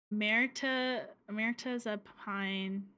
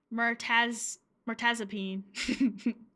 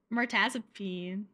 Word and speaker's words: mirtazapine: Mirtazapine. Mirtazapine. Is that really how you say it? Peen.